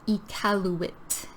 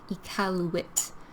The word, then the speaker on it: Iqaluit: So pronunciation here is Iqaluit. Iqaluit. It's 4 sounds.